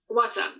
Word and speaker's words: Wata: Wata, W-A-T-A. Okay. So water, but not water.